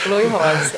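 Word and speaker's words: Cloe Rosa: A pronúncia está correta? Chloe Rosa? Isso, Chloe Rosa.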